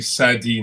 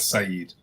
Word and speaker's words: Sadi: And the first poet is actually Sadi, not Said.